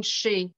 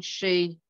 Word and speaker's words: Sidhe: so look under it's justine she so esidhe um yeah justine she um at band camp justin um that's justine and then s-i-d-h-e if that's the one